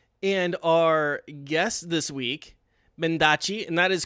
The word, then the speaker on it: Mendacii: And our guest this week, Mendacii, and that is correct, right? That's how I'm supposed to be pronouncing it? Yeah, It's yes it Versace. is. Mendacii.